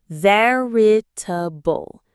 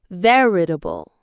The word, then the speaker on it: veritable: Now for the pronunciation, it has four syllables. Listen. Veritable. Veritable. The stress is on the very first syllable.